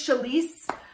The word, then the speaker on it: Chalese: confident with saying my name my name is chalice and so now it's just like that's yeah